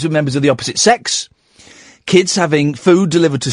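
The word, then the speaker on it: CeX: we went into the sex shop you know um Computer Exchange Tex but apparently it's pronounced sex right and we went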